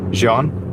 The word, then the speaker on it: Jean: I've been saying Gene this whole time. Jean? Ah, there you go.